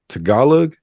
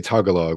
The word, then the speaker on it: Tagalog: the more, Eurocentric languages, hearing someone rapping Tagalog. Is that how you say it, Kuya? Yeah. In my mind, I always want to say Tagalog when I see it. So I got a lot of people think that.